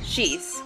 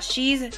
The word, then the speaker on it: Schieß: Schieß. Not cheese, cheese, or scheiß, which means something else in German, so don't say it. And my favorite mispronunciation of my last name. But nope, I am going to get as many people as I can to say schieß correctly.